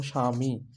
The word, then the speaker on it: স্বামী: প্রথমে বফালা শব্দের প্রথমে যখনই দেখবেন যে শব্দের প্রথমে বফালা তখনই সেই ব ফলার আর উচ্চারণ হবে না ব ফলার উচ্চারণ হবে